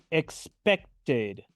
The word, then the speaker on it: expected: tener expectativa de algo expected expected pronuncio la Ed final como una ID expected veamos ahora otro